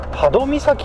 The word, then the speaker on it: 波戸岬: ですけれどもねーこの岬は波動美咲って読むんですね頭じゃなくてどうのようですね